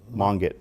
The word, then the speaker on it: Mangat: Your director of state parks, is it Mangat? Yeah, Lisa Monget. And how do you say it? Monget. Monget. Okay.